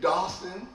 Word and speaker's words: Dawson: I've been saying his name wrong all this time. It's Isaiah Dawson. You just scratch that Dalton out your mind because this guy is going to be big, big, big.